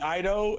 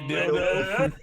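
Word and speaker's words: Dido: Well, there's a I forget what movie that singer named Daido and someone mispronounced their name and said Dildo.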